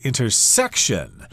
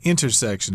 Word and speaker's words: intersection: I did want to mention that a lot of people, for some reason, say the word intersection as intersection, with the accent there on the 3rd syllable, but I usually put it on the 1st syllable.